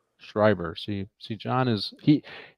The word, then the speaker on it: Schreiber: do you say his last name again Le shriber shriber see see John is he I always kept